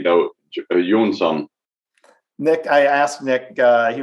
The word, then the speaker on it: Jonsson: And actually, I lived in Australia, Asia, and UK, and everyone pronounced Johnson differently. The most common have been to just say Johnson. Even in Sweden, we say Jonsson.